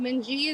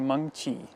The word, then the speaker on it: Mengqi: about Mengji is that Mengji, that's how you pronounce her name. It's actually Mengqi. And it has tone to it.